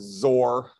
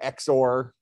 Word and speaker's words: XOR: concept of exclusive or some people refer to it as zor or xor pronounce it however you want but exclusive or is